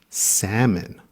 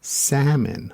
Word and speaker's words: salmon: method pilot second and salmon remember the l is quiet in salmon you